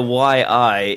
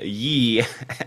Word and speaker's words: Yi: for all your input it's not the why I it is the Yi action cam this is the